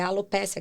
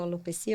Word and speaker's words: alopecia: né medo de alguma é alopécia que fala alopecia eu não sei como que as duas pronúncias são corretas duas sim algumas algumas